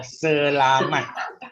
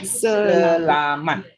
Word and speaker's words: selamat: Okay, the only things you need to correct is the pronunciation of selamat. Yeah? Selamat.